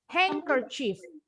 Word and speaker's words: handkerchief: Handkerchief. Bacanya D-nya silent. Huruf N-nya makanya nih bunyinya jadi eng ya. Eng, hanky, handkerchief.